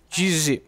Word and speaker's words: Jizzy: que é o jiz o jiz na verdade a pronúncia né jiz e ele tem um